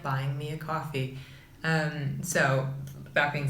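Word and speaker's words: Ko-fi: this quickly I made I think you just say I'd like coffee it's spelled ko - fi comm coffee and it's in the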